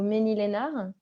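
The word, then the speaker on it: Mesnil-Esnard: Mais en tout cas, donc Émilie Sénéchal, toi, tu es naturopathe près de Rouen au Ménil-Lénard. Oui. C'est comme ça qu'on prononce.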